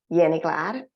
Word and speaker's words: Jenny Glad: I'm from Finland, so that's why I say my name, Jenny Glad. And of course, it's an international name for some reason, so I quite often am called Jenny, so I hear that as well.